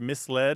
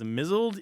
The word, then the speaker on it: misled: in the world who pronounce the word misled is mled is vast oh oh